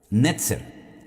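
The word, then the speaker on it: נצר: Netzer.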